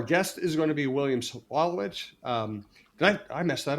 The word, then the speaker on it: William Sawalich: So, our guest is going to be William Sawalich. Did I I mess that up? Did I? William Sawalich. How do you pronounce it? Sawalich. That was good. You said it right the first time.